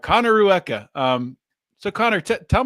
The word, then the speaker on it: Rueca: say your last name yes so it is Rua okay Connor Rua I would have messed that up so I'm glad I didn't try it h Connor Rua um so Connor te tell me a little